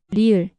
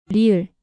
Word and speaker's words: 리을: 리을, 리을, 르, 르. Between R and L. At the beginning of a word, it often sounds like a soft R like in run.